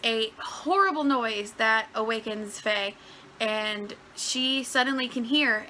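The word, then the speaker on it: Fei: From what I understand, there is a village where the main character, I believe her name is pronounced Faye, and she lives in a village where she is completely cut off from pretty much the rest of civilization.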